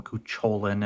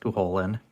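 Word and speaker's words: Cú Chulainn: love the character of Cuchulainn. I hate that they call him Cuchulainn in the frickin' Smite. If I have one pet peeve, it's supposed to be pronounced Cuchulainn. The CH makes an H sound, you dumbasses.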